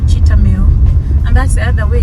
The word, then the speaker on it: Cheetham Hill: But where I am going, it's called Temu, and that's the other way. Temu is written Cheetham Hill. Cheetham Hill. They just pronounce it Temu. They don't say Temu, they don't say Cheetham Hill, they say Temu.